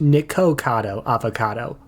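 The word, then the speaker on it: Nikocado Avocado: correction it's actually pronounced nikado avocado like with an O as an Ohio Iowa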